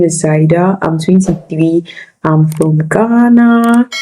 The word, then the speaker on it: Saeda: Her name is it Saida, if I'm pronouncing it well. Saida, yeah.